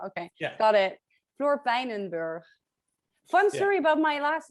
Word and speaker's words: Peijnenburg: See, my little name pronunciation tool didn't put the on the end of that G. It gave it a soft G, but I noticed the way you just said it, Peijnenburg.